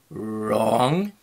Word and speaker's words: wrong: We have words that sound the same, not and not, but the one is spelled with the KN. Then we have the WR, like in wrong, right, right.